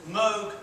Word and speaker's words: Moog: it says always said Moog rhymes with Rogue not new rhymes of